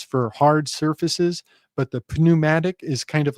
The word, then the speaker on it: pneumatic: But when people say that word today, they don't take the trouble to stumble on the silent P. They just call it a pneumatic hammer. But it has that silent P that pressurizes the whole the whole word really.